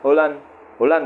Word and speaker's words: Haaland: Haaland katanya bacanya, bukan Haaland.